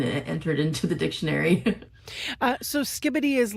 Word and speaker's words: skibidi: So skibidi or skibidi? Skibbity. Skibbity. Okay, I was entirely wrong.